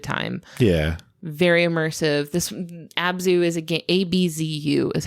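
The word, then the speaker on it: ABZÛ: Abzu is a favorite of both of ours.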